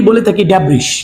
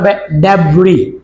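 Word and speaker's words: debris: প্রায়শ ওয়ার্ডটা আমরা অনেকেই বলে থাকি ড্যাব্রিশ কি বলে থাকি ড্যাব্রিশ বাট রিমেম্বার এটা উচ্চারণটা হবে ড্যাব্রি উচ্চারণটা কি হবে ড্যাব্রি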